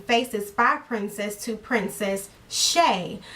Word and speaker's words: Chae: That is my real name, and I changed my channel name from Faces by Princess to Princess Shay. So C-H-A-E is pronounced Shay, and that's a part of my middle name.